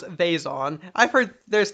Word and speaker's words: Vezon: Vezon. It's pronounced Vizon, but he goes Vazon.